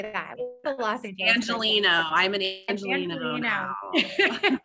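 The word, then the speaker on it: Angeleno: right person how do you say that philosophy angelino i'm an angel you know that's amazing awesome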